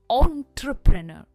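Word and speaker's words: entrepreneur: तभी आप वर्ड्स को सही प्रोनाउंस कर पाओगे। यह है एंटरप्रेन्योर।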